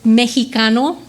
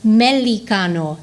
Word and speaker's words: mexicano: For example, the word mexicano, m-ex, she pronounced it as melico.